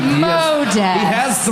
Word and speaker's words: Modist: No, it's spelled. Come on, it's Modist. Modest.